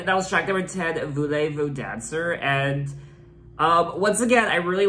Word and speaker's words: Voulez-vous danser: I do think it's pronounced Voulez-vous dancer?